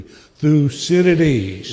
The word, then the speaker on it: Thucydides: Thucydides. What is the most interesting pronunciation you've heard?